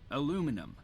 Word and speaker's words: aluminum: Aluminum. Aluminum. Okay. Is there a difference in the United States pronunciation?